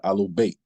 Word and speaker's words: Ahlul Bayt: Yes, the Ahlul Bayt. Right, they call it the Ahlul Bayt, right? The Ahlul Bayt is spelled AHLAL-BAYT.